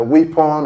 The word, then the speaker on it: weapon: Many people pronounce this word as weapon, the weapon of our warfare and all that.